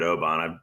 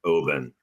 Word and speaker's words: Oban: And it's interesting too, because I've always called it Oban. I've been drinking this probably for 25 years, but my Scots friends tell me that it's actually pronounced Oban.